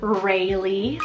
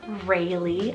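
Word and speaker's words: Reylie: Freddy means peaceful ruler I added the name Rayleigh spell r e y l i Rayleigh I love this spelling so so much and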